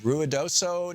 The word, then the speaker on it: Ruidoso: Tom Harbin here with you and Ron in Ruidoso New Mexico am I saying it right Ron